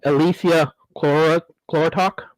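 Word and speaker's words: Elysia chlorotica: been looking into called, and I'm going to butcher the heck out of this word when I say it, Elysia chlorotok, if you've heard of it.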